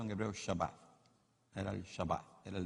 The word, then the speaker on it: Shabbat: Esa palabra reposo era el Shabbat, o pronunciado en hebreo Shabbat.